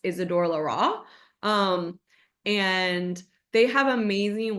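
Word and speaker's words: Isidore Leroy: It It looks like Isidor Leroy. It's pronounced Isidor Larra.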